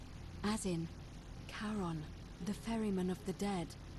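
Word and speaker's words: Charon: it's just as you descri it only your pronunciation is a little off the name you heard wasn't Karen it was c h a r o n as in karon the Fairman of the Dead karon who in exchange for the right coin helps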